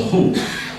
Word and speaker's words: Khoi: Muslim community had with the Khoi, or the Hu, which is a more correct pronunciation of them.